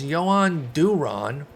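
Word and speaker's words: Jhoan Duran: 19 stubs can't hurt you next up is joanne duron that is the correct pronunciation i did check for the twins this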